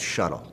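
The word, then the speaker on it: Shutl: It's being experimented with in the United Kingdom by a company called Shuttle, and that's spelled S-H-U-T-L.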